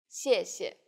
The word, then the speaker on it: 谢谢: The tone in the first syllable is the fourth falling tone. 谢. And the second syllable is the neutral tone. 谢. Altogether, 谢谢.